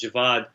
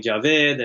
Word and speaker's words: Javad: i know that so my name is javad it's a very difficult name for white people to say and that bothered me my entire life because people would mispronounce it and pakistanis actually mispronounce it too they call me javed and all sorts of